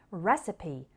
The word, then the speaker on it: recipe: often with violence now in those seven words we just practiced the final e sounded like e recipe posse sesame but in the next